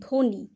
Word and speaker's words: ধ্বনি: রস ইকার ধ্বনি তাইতো কিন্তু আমরা এখন উচ্চারণ করছি দেখো আমরা কিন্তু ব এর উচ্চারণ করছি না আমরা কিভাবে উচ্চারণ করছি আমরা বলছি ধ্বনি ধকার নয় হ্রস্ব ইকার ধ্বনি তারপরে ধরো স্বর সয়